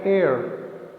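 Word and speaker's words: heir: एन एयर, यहाँ पर भी एच साइलेंट है, इसलिए इनसे पहले एन लगा है।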